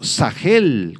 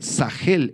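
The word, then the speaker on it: שכל: esta palabra proviene del hebreo sagel con acento en la e sagel es un verbo que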